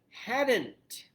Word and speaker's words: hadn't: So yeah, you still have that D in there. That D is pronounced. It almost doesn't even sound like it, but it's there.